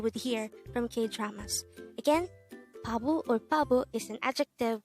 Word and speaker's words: 바보: only here at gay hangout word number 163 pablo pablo this is pronounced as a two-suitable word the first syllable